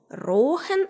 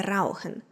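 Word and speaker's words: rauchen: як розмовляють берлінці послухаємой замість дивтонгу ау берлінці вимовляють довге О рохен а не раухен замість е і довгу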